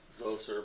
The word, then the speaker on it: Zoser: guy names Oh sir pronounced so sir but spelled Zoser okay and zou sir decides to build a